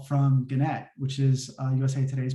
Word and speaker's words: Gannett: i never heard of gannett i was actually mispronouncing i was calling janet uh embarrassingly enough um i